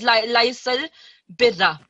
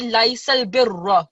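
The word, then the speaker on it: لَيْسَ الْبِرَّ: So whenever you have this, the raw that has fatha or dhamma, you have to pronounce it with thick sound. Okay, it's not pronounced as laysal birra. That would not be the correct one. So it would be laysal birra. So with a bit of thickness, sorry, and broad sound.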